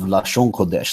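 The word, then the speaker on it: Lashon Kodesh: form of people and they call it la Shawanda now that's their dialects pronunciation of lashauwn kodesh literally the holy tongue it's a distinct form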